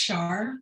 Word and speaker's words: Char: It's pronounced Char for Charlene.